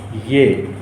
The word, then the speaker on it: ये: So in a written Hindi, this will be written like this. Ye, ya and ha. but we pronounce ye.